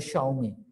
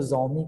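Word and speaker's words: Xiaomi: तो थोड़े से उनको बोलना जो है, उनको प्रोनाउंसिएट करना ये थोड़ा मुश्किल होता। एक ब्रांड है चाइना का जो मोबाइल बनाता है, शाओमी। कुछ लोग उसको जोमी कहते हैं, कुछ लोग उसको शाओमी कहते हैं,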